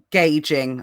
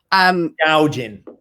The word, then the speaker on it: gouging: Final kind of discussion on price gauging. I always say it wrong. Gouging. Is it what is it? Gouging, like gouging your eye out.